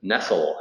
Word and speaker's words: Nestle: Her name is Marion Nestle, she pronounced it, although it's spelled Nestle, like the food company that's based in Switzerland.